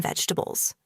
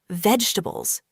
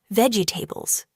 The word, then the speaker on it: vegetables: A lot of people say it like this, vegetables, slowly and with every syllable. But in natural English, we often say it faster and smoother. Vegetables. Only three sounds.